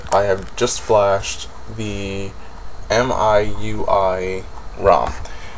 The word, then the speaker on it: MIUI: have just flashed the Mi I UI ROM now I think it's pronounced miwi and I believe I